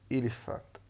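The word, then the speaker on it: elephant: وعندنا هنا البي والاتش، البي والاتش في كلمة إليفانت بتتنطق اف. إليفانت، إليفانت.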